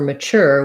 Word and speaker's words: mature: a ch and for mature we say ma two ways same sound sure we just have that er sound and the ch sound so amateur first syllable stress and mature second syllable stress um yeah those are